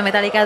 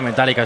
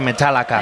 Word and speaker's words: Metallica: de 2 horas de Metallica. Yo creo que ni un concierto de Metallica dura menos de 2 horas, pero ha sido realmente emocionante, ¿eh? No se dice Metallica, se dice Metallica.